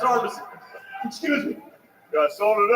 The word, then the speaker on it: Armisen: Listen to Fred Armisian. He is the interpreter. Oh, please pronounce Armisen.